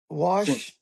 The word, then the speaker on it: Washington: Uh, say sure. Washington. Washington. Sh. Washington.